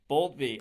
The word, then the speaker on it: Boultbee: Is it Boltby? Boltsby. Yes, Boltby.